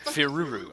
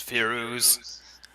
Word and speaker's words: Firuz: Firuru. Okay, Firuru. It's Firuz. Firuz.